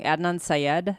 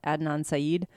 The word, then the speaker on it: Adnan Syed: the podcast and yeah I always say his name wrong Adnan Syed Adnan Saeed he was somebody that's what